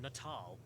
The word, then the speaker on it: Natal: Oh wait, it's pronounced Natal.